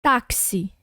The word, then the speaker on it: táxi: A gente fala o K e o S ao mesmo tempo.